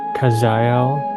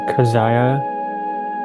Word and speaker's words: Kazael: You may call me by the name Kaziel or Kazaya which is a close pronunciation in your human tongue for the essence of my vibration and teaching.